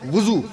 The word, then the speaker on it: وضو: میں عرض کر دوں آپ سے, اکثر لوگ وضو بولتے ہیں, وضو صحیح تلفظ کیا ہے؟ وضو. وضو نہ کہیے گا, واو پہ پیش لگائیے گا.